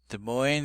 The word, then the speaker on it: Des Moines: Des Moines is a city in America and has the oi sound, which is prevalent in many words, like toy and coin and others.